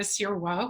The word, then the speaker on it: Sirois: I'm really excited to speak with Sirois, who I love to talk. Did I pronounce that right? I pronounced it in French.